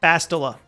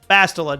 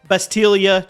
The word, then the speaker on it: Bastila: Also, yes, to prove I do read every single comment, this time I will say her name right, Bastila. Bastila, not Bestilia, not Barstula.